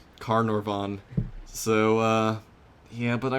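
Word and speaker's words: Carnarvon: uh carnan and that's where I get the carnavon from is because they're very similar and I start to Interchange letters and also I'm a American who can't obviously pronounce uh I'm looking at this stupid tweet which I posted which has the uh the proper pronunciation car noron so uh yeah but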